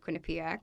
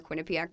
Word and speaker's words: Quinnipiac: was in Connecticut in college so I went Quinnipiac okay that's how you pronounce that yeah believe me does not matter